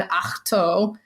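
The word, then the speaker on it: Ahch-To: be so annoying to be an akto I believe that's how you pronounce it or at least that's how I'm going to pronounce it uh the planet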